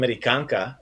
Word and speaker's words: Amerikanka: So just like I'm an American woman, ja sam Amerikanka, you have that A, that feminine A sound at the end, the A. Ja sam Amerikanka, but this one we're doing ja sam Australijanka.